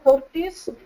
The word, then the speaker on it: Þórdís: So maybe you are having troubles with it, but it's actually, like he said, Þórdís. It's actually spelled the thunder god Thor.